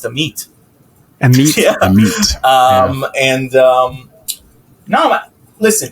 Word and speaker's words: Amit: everyone to know that my name is pronounced the meat um and um no